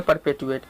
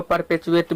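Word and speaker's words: perpetuate: बनाए रखना को बोलेंगे परपेटुएट। बहुत सारे इसको परपेचुएट भी प्रोनाउंस करते हैं, तो इसमें कंफ्यूज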